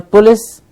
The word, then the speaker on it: police: the fullest in a police it is police it's a long e sound police and the PLO's